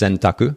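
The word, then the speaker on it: 選択: kanji the japanese kanji so in japanese it's pronounced sentaku that's choice and then kakshin is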